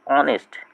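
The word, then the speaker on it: honest: আবার এইচ হতে পারে এইচ ও এনই এসটি অনেস্ট এইচ ও ইউ R hour হয়। সি ও এম বি বি এর উচ্চারণ হবে না এখানে।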